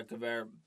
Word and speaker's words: Gewehr: No, it was a Gewehr? Oh, Is that how you pronounce it? yeah, Gewehr Yeah.